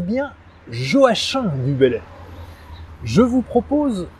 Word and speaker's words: Joachim: siècle auteur notamment des regrets et oui on prononce bien jo h1 du bellay je vous propose aujourd'hui une dictée